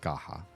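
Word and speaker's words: Scáthach: it would be her her name would be pronounced Skaha pretty sure the Dune is pretty easy though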